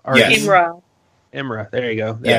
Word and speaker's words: Imra: Is it Irma? Yes. Imra.